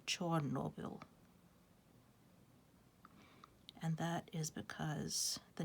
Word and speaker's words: Chornobyl: The Russians say Chernobyl, and the Ukrainians say Chornobyl.